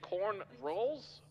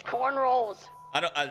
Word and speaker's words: cornrows: Are you saying corn rolls? It's cornrows.